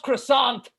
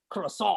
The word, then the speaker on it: croissant: It's pronounced croissant over here. It's fine. You don't have to be, you guys and your pronunciations. It's just, I mean, I know in the books it's like croissant.